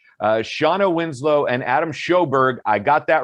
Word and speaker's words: Sjoberg: and directors today uh shawna winslow and adam shoberg i got that right the j is pronounced s as in h and adam told